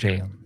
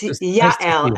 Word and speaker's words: Yael: Good morning, Jael. Good morning. Good morning. It's Yael. I just I will fix it so people can pronounce my name. I know it's a little hard. It's Yael.